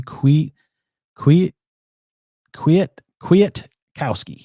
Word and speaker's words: Kwiatkoski: trying to say it correctly Qui Qui quit Kwiatkowski it's gonna be a fun one there's always